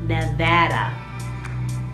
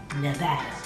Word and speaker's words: Nevada: It's because I got a new job, so I am working in Nevada. Not Nevada, which everyone calls it. It's called Nevada.